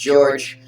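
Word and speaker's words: Jeorg: Yes, it is pronounced George. It's spelled J-E-O-R-G, which is like a misspelled Jorge, because I think Jorge would be J-O-R-E-G or something.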